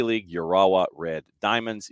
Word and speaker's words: Urawa: in the J League, Urawa Red Diamonds. You see, you can't slur that. It's got to be something that's done, piecemeal. You have to do it a syllable at a time. So Urawa Red Diamonds in the